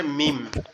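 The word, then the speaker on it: م: ঠিক আছে, এই মিমটা অনেকটা ওরকম দেখতে। মিম আর এটার উচ্চারণও খুবই সহজ, এই দুই ঠোঁট একসাথে লেগে লা হাওলা ওয়ালা কুওয়াতা, লেগে হালকা করে আওয়াজ হবে মিম।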